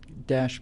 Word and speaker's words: Daesh: have high hijacked uh it's pronounced Dash thanks guys uh you